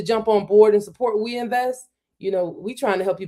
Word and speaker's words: OUINVEST: It's We Invest. So it's spelled we like French, OUINVEST.ai.